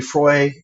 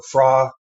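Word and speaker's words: Fróis: And, Louis Froy or Fra, I've heard it pronounced multiple ways.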